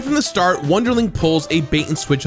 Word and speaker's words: Wunderling: But Wunderling, or rather the original pronunciation, which is Wunderling, but I'm going to say Wunderling because it's much easier for me, manages to emerge as very much its own thing.